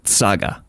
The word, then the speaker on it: chaga: The letter C is pronounced ts. So the word chaga, like Jimmy Chaga, would actually be tsaga.